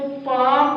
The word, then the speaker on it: palm: देखो बच्चों यहाँ पर यल है, यल साइलेंट रहता है। क्या रहता है? जब ऐसी कंडीशन हो यल के बाद हम आए तो यल क्या रहता है? साइलेंट। इसलिए इसको पाम पढ़ेंगे।